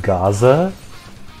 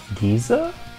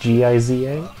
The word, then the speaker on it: Giza: oh no no did you say pyramids of gaza oh yeah i don't know how to pronounce it i'm sorry giza isn't it just g-i-z-a oh yeah giza oh giza i don't remember